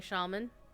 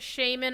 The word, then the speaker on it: shaman: Resto, of course, is the healing shaman. Alright. And any of you who pronounces it shaman are wrong.